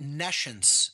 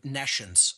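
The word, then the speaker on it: nescience: or hear the word nations so I'll even spell it for the listening audience it's n e SC ience like n E and then the word science meaning no science again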